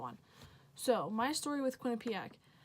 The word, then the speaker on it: Quinnipiac: heck is Quinnipiac like it's a weird name no one knows how to pronounce it quack pack Quinnipiac Q pack Quinnipiac what like no one knows how to pronounce it it's Quinnipiac so pretty much I